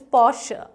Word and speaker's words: Porsche: Okay, well, did you get a chance to sit in a Porsche? Well, if you did, you are lucky. I didn't. But yes, the correct pronunciation of this, again, luxury brand is Porsche, Porsche, Porsche.